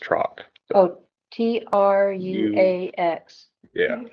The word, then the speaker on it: Truax: And then, John, the spelling's different. I think it's pronounced Trock.